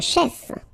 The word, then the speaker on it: chef: Un chef. Un musicien. Un danseur. Un comédien. Un chanteur. Un serveur. Okay, so let's see them. Un chef, so remember, CH, it will give you the sh sound.